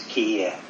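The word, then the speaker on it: 帰依: In Japanese it's kiye.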